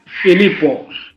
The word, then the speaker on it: Filipo: How is pronounced your name? Filipo. Filippo, like in Italian way. Filippo. No. Yeah. Ah, like that.